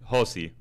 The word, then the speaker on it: Josi: tiktok Josi se escribe Josi Yo siempre digo que es Josi es un José mal escrito porque tiene una ía al final eh estoy en ex